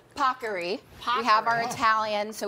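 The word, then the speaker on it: paccheri: This is, as the Today Show team made sure I pronounced properly, Pockery.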